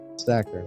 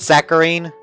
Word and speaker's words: saccharin: Saccharin. Okay, that makes sense. Is it saccharine? No, it's saccharin.